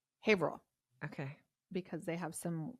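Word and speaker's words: Haverhill: it's spelled is not the way it's said English is hard well listen it's called it's spelled hah Hill okay hah Hill New Hampshire but they call it hail okay because they have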